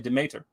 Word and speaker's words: Demeter: kept calling it no the word is actually demater right or Demeter depending on the pronunciation but it's d-e-n-e-t-e-r and it means the mother in Greek and he kept calling it determer and it's there in